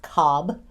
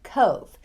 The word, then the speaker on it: Cobh: It is not Cobb. It is pronounced Cove.